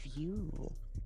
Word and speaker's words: Vue: that name from playstation vue like with the v-u-e folk voo i don't know why i don't know why they called it that but because it was called playstation vue they wanted you to pronounce it like view let's just call the